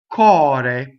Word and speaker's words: cor: So most words that in modern form have an uo, or an alternate form that's uo, is going to be open. Cor. C-O-R. Notice that the R rolls because it's final.